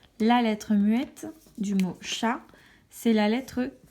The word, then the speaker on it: chat: Exemple, le mot chat, la lettre T, on ne la prononce pas.